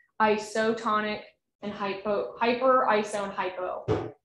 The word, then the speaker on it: hypo: I think hypo sounds a little bit like hippo, you know, like, I mean,